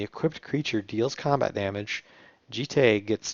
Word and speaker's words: Jitte: Next up is Umezawa's Jitte, and I do believe it's pronounced Jitte, though you'll hear Jitty or I don't even know all the different pronunciations that this card has had.